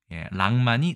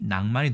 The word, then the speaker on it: 낭만: 첫 번째 글자는이 랑자입니다 원래 낭만은 두음법칙에 의해서 랑만이 낭만이 된 것이죠 첫 번째 글자 준